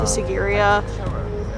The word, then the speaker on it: Sigiriya: We were told it's pronounced Sigiriya with like a Z for the S.